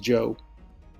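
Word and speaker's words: Zhou: Yes, I understand it starts with a Z and an H, but that's pronounced Joe.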